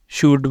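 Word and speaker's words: should: एल आ रहा है पहले तीन वर्ड है यहां पर आ रहा है एल यू के बाद जैसे शुड वुड कुड ये हम शुड नहीं बोलेंगे शुड बोलेंगे शुड वुड कुड ये क्या है यू के बाद आ रहा है ऊपर हमारे पास रूल मौजूद है इसके लिए भी यू के बाद जब एल आएगा तो उस वक्त इसको नहीं बोलेंगे उसके बाद आ जाता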